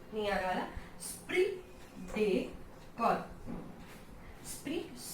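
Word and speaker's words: esprit de corps: स्प्री डे कॉर, स्प्री डे कॉर, स्प्री डेकोर, okay, स्प्री डेकोर। Now it's not crops and PS is here also silent.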